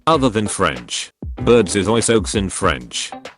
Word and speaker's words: oiseaux: Birds is oiseaux in French. No letter is pronounced the way it should. And there are 7 of them. It's pronounced oiseau, and yes, I will die mad about it.